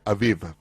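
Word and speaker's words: אביב: En hebreo se pronuncia Aviv. Noten que Aviv y a veces Aviv.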